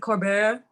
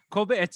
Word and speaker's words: Colbert: Is it Colbert? Colbert.